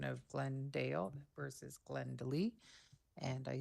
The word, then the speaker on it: Glendale: The oral pronunciation of Glendale with two syllables first out of Glendel with three syllables is not enough of a difference and will pose a challenge to emergency services.